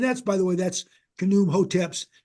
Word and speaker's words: Khnum Hotep: So that's Khnum Hotep, and you pronounce every letter there in the Egyptian text.